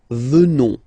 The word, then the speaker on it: venons: Final S not pronounced. So, you will get the sound venons.